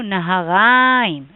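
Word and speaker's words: נהריים: the end, or Mesopotamia, which is in Hebrew Naharaim.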